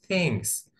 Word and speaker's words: things: Egyptian farmers produce many things. الفلاحين المصريين ينتجوا أشياء كثيرة. Things. ناخد بالنا الـ TH هنا نطقناها ثاء.